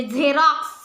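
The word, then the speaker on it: xerox: म्हणजे examination example आणि कधी कधी नुसत झतो झ म्हणजे झेरॉक्स xylophone झेरॉक्स Xylo low phone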